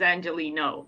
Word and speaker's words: Angelino: made it very close that's how you say it but his first name is Angelino yes and Angelie no